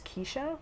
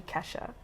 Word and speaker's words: Keisha: Since it is actually how it's pronounced, I am a French-speaking person, so the sound E is E-I. Whereas in English, apparently English speakers read that as Keisha when it's actually Kesha. So, you know, Kesha was